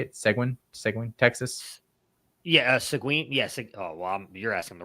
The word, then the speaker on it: Seguin: Yeah, Seguin. Yeah. You're asking the wrong person. I'm like Colin Decker over here trying to pronounce things.